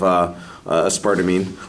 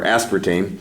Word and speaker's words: aspartame: about the safety of a sparked amine or aspartame depending upon how you want to pronounce it we had that discussion